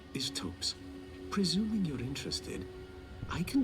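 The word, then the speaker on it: Thops: I stand corrected. Pronounced tops. None of them are particularly I thought it was Tops. Why put an H there?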